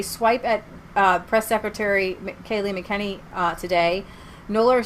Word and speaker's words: McEnany: So twice during her press briefing, McEnany ran videos in support. I think it's McEnany. No, it's not. It's McEnany. It's McEnany. They say it like this.